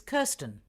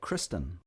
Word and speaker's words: Kirsten: and your first name it's kirsten uh was that kristen no i'll spell it for